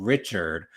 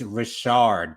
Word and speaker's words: Richard: Um, we had Don Rashard and I hate that people keep on saying Richard when it's she's said it in so many interviews. It is Rashard.